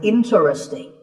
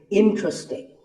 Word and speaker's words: interesting: This is mispronounced sometimes as interesting, but there are only 3 syllables, in-tra-sting, and the stress is on in. So the word is interesting.